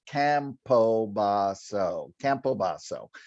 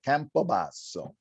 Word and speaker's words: Campobasso: But if you look at it, it's Campobasso. So how you remember it is to do it with an Italian flair. Campobasso. Then people remember it.